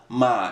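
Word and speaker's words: Uhmah: as mentioned, the new Uma Beauty. I'm going to say Uma because that's what everybody else says. But on the website, it says Ma as far as the pronunciation. U-H-M-A-H. Ma Beauty, right?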